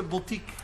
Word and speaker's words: boutique: y de la mejor botica de la ciudad no no no se dice botica rosita se dice boutique Ah pues de esa